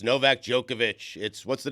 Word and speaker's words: Djokovic: Even though it ends with a C, we say Novak Djokovic.